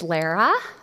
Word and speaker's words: Lara: And she reminded me today that it's Lara, like rhyming with Sarah, okay?